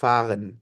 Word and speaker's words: fahren: দেখেন, এখানে ফ্যাগেন বলছেন, ফ্যাগেন না, ফাগেন। Fahren.